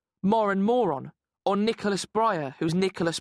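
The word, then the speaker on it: Moran: too his real name's Dean Moren rhymes with Warren but R PE teacher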